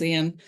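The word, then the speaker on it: Eoin: arms and it's about Owen mcgonagal or Ian mcgonagal as I believe they pronounced it and I've definitely slipped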